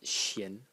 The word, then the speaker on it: 咸: And it's pronounced xian in the second tone.